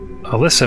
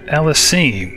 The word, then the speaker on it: Ellesime: pronunciation of her name I've been saying Alysa it's actually Elis I'm sorry about that